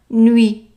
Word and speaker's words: nuits: And the TS, both of them are not pronounced.